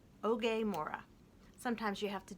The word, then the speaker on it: Oge: There was a recording of her explaining that it rhymes with okay. Okay, Oge. Oge Mora.